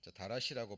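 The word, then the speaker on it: דרש: search는 찾고 어떤 연구하는 그런 의미를 가지고 있는데 원래 이 자세히라고 번역된 원어는 다라시라고 발음이 되는데요.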